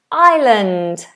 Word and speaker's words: island: So, moving up, we have island. Island like me. I island. We don't go into the R sound. We don't do I. We just do island.